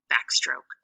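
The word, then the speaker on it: backstroke: syllable would be stroke remember that E is silent and that is purpose is to make that o say its name and our word is back stroke so this is how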